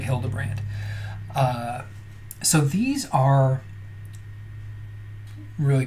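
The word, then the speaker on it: Hildebrandt: white um H hilderbrandt I think I mispronounced that the first time so Greg hilderbrandt uh so these are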